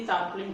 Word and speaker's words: tarpaulin: सबसे पहले समझिए कि ये tarpaulin क्या मतलब होता है. कई बार क्योंकि इसकी प्रोनाउंसिएशन tarpaulin है और वैसे हम इसको कहते